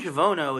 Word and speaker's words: Javono: So the name Javono is actually after John von Neumann. You'll notice it sounds a lot like the first, syllable of of his name.